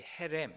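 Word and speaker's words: חרם: 하나님께서 주신 진멸 규정 히브리어로 표현하면 진멸이라는 말이 헤렘 이렇게 발음하기 때문에 헤렘 규정 또는 이렇게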